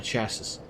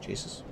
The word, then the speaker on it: chassis: broke off uh broke the display from the chassis. Cases chases casses. I know I know how to pronounce this word.